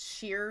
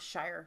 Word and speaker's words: shire: So it's pronounced sheer, not shire.